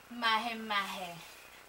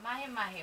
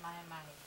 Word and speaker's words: mahi-mahi: And of course, same things, the seasoning, add on the fish, mahe mahe. Mahe mahe? So, mahi-mahi. My husband say mahi-mahi.